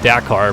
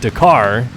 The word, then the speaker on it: Dakar: Dakar correctly, which, yes, I know it is pronounced Dakar, but I just, for some reason in my mind, I was thinking about it too fast or something.